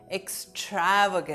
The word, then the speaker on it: extravagant: The pronunciation of the word is extravagant. The focus is on the second syllable stra extravagant not extravagant.